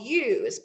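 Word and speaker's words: ewe: mating season the females are called used but it's not spelled like you might think it's e-w-e and then the babies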